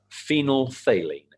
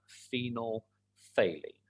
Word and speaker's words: phenolphthalein: amazing name for scrabble phenol phthalene is how you say that phenol phthalene and phenolphthalein is again